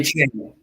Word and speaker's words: Achane: So your Jahmyr Gibbs, your Bijan Robinsons, Devin Achane, right? I think it's how it's pronounced. Achane? Okay. Achane.